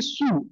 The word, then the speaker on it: Sioux: Okay, now यहाँ पे इसको अपन प्रोनाउंस करेंगे सू, SOO, ओके, सू।